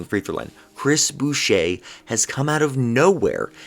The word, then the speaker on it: Boucher: main two but chris boucher and i hope i'm pronouncing his name right because it might be butcher that's how it's spelled but i think it's chris boucher all right has been